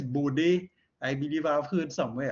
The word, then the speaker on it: Bode: signals called calls it bored right i'm not too sure how henry himself pronounced it he was um the name is dutch so i think it's body i believe i've heard